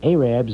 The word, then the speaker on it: Arabs: After that, the Arabs, and the reason I pronounce it Arabs, it's spelled A-R-A-B-S.